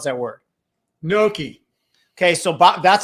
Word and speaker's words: gnocchi: Gnocchi. Okay, so that's how I pronounce it. But although I've heard it gnocchi too. He puts the Y in there a little bit, gnocchi, right?